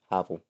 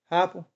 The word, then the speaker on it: Heupel: Heupel. Heupel.